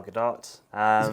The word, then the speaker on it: Gadot: Rachel Zegler and Gal Gadot. Is it Gadot? I thought it was Gadot. It ends with a T, so I've always pronounced it Gal Gadot, but I guess that'd be the French pronunciation, and she's Israeli.